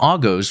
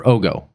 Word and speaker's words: Ogo: The Ogos, which we saw from the previous episode, or Ogo, it's pronounced Ogo, those capsule-like things that are the answer to the Federation ball.